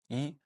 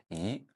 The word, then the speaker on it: 一: And in the case of yi, sometimes we pronounce it on the first tone, yi. Sometimes we pronounce it on the second tone, yi. And sometimes we pronounce it on the fourth tone, yi.